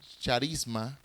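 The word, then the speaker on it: χάρισμα: Pero, volviendo al griego, la palabra don se pronuncia, se dice charisma, y significa una gracia, la palabra don, una gracia, un favor, un regalo, un don de la gracia de Dios.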